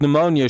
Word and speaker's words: pneumonia: Yeah, they have a lot of dumb silent letters, too. Uh, I hate it. Like, pneumonia should just be spelled N.